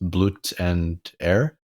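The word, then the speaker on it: Blut und Ehre: was what was it how was it pronounced blut and air that would be in the german version oh i agree yeah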